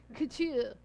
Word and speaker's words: couture: You gotta say it like your nose is, couture.